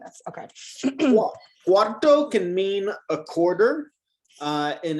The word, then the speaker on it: cuarto: Careful, you're saying the number 4, cuatro. This is cuarto. Cuarto. You're putting the R on the wrong side.